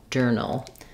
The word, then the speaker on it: journal: If there's anything, there's a little schwa before the dark L, but you want to move quickly from your N to the ul, null, journal.